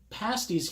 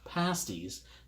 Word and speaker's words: pasties: and pastry important note pasties here is pronounced pasties not pasties to the British there's a difference so this is day